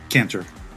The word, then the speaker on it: Cantor: hello how do you say your last name caner okay caner okay and then the organization uh